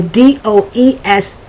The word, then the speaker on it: does: z if you're doing it phonetically and the d o e s is pronounced more like uh d a z does